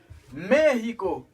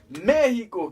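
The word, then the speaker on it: México: Et puis, mon encore, m'a mettre pour nous connaître, il y a pile monde qui mal prononcer ça. Mexico.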